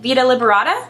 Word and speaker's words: Vita Liberata: So this is by brand Vita Liberata.